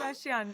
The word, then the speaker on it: Kardashian: Is it Kardashian? And please tell me it is cuz otherwise I just made a fool of myself. Kardashian. That's right.